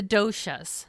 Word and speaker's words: doshas: So I'm going to throw out the one word that I do know and you can correct me if I'm pronouncing it wrong, but the doshas.